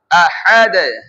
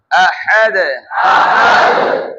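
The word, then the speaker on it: أحد: প্রথমটা উচ্চারণ আ, গলার প্রথম স্তর থেকে, তারপরে হা উচ্চারণ করব, এটা হবে গলার মধ্য স্তর থেকে। হ্যাঁ, এই যে আহাদ আহাদ, আবার আবার হা তুলে হাদ, বাতাস বের করে আমরা পড়েছি হা উচ্চারণে, আহাদ আহাদ।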